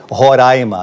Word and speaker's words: Roraima: o nome do estado eu já aprendi há muito tempo que é roraima até porque se eu